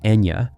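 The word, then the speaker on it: Eithne: Her real name is Ethna, but in the Donnagal dialect, it is pronounced as Enya, which later became her stage name.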